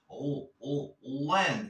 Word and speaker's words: lend: Lend. Esa L como si te estuvieras tragando la lengua.